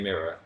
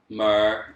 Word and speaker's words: mirror: Adam, say mirror. Mer.